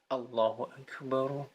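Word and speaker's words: Allahu Akbar: seseorang bertakbir atau adzan mereka kepanjangan menyebutkan a ya Allohuakbar Allohuakbar yaitu juga keliru tidak ada panjang disitu bacanya pendek Allohuakbar Allohuakbar Allohuakbar ya pendek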